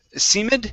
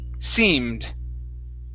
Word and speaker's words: seemed: Instead of seemed, seemed. Seemed.